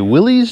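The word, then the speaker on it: Willys: a 1946 Jeep cj2a it's a Wily's Jeep or Willis Jeep depending on how you pronounce it today's episode's brought to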